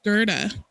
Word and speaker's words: Gerda: I have been saying her name wrong this entire time. It's Gerta.